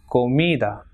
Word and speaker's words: comida: Same, following the same rule, it is comida and examen. So it has got 2 syllables, examen.